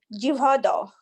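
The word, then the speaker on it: jihvādau: Shivomukhe hi jivado. I'm not sure if I'm pronouncing that correctly. Jivado, which Yes, means Mataji, you're saying it right.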